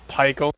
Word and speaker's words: Pichael: I prefer pronounce it Pickle. Pickles? Like, it's like Michael with a P.